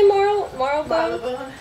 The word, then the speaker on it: Marylebone: How do you say Marylebone?